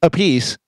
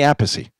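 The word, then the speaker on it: Appice: their own last name the brothers both pronounce it differently car I a piece Vinnie appy there was a my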